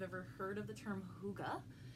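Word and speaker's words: hygge: know if you've ever heard of the term hookah it's pretty it's pronounced to ago but it's spelled hyg GE and it is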